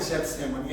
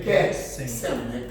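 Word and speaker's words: Getsêmani: Que Jesus lá no jardim Getsemane, que é assim que se pronuncia, não é Getsemane, é Getsemane, que é aqui igual o Getsemane, sou chato, tá bom?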